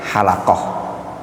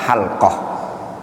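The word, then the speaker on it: حلقة: Kesalahan nyebutnya halaqah ya. Kalau halaqo itu artinya tukang cukur. Yang lebih tepat halqah. Jadi bacanya halqatul Quran.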